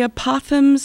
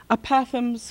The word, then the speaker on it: apothegms: The Abba poems are, they're based on a real person, and the works that I'm imitating are the apothems of the Desert Fathers.